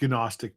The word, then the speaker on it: Gnostic: It's um I've it's pronounced Gnostic, Paul. I don't know why. You're right. How embarrassing. Yeah. I forgot about the G up front.